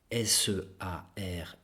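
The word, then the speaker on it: Searle: qui s'appelle John or c'est pour prononcer à l'anglaise le r sœur sear le dans un livre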